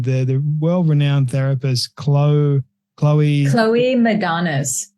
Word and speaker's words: Madanes: The world-renowned therapist, Cloe Madanes. Madanes. Yeah. Mm-hmm. I wasn't sure how to pronounce that properly, but thank you so much for that, Jillian.